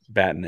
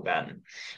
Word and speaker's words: Batten: I believe it's pronounced Batten, and I've seen it pronounced Batten, but I'm open to being corrected.